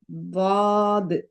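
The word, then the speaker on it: ضاد: வாய்க்குள்ள சத்தத்தை உண்டாக்கி சொல்லணும் தாது மாஷா அல்லாஹ் அப்போ இந்த எழுத்து என்னது அஞ்சு வாட்டி கேட்டாலும் நீங்க அஞ்சு வாட்டியும் தாது தான் சொல்லணும் ஃபர்ஸ்ட் வாட்டி தாது சொல்லிட்டு செகண்ட் வாட்டி லாது சொல்லக்கூடாது இப்ப சொல்லுங்க பாப்போம் இது என்ன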